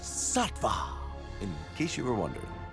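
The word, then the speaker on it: Saatva: pressure and that place is this website it's pronounced sattva in case you were wondering new alka-seltzer plus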